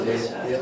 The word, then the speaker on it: Alicia: Is it an A or how do you say it? It's an E. I know. Alicia. Say Alicia. Alicia? It kind of comes out like an A sometimes.